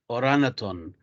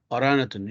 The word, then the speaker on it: orangutan: called orangutan paranatun insane orangutan orangutan g is silent don't pronounce the g orangutum and the title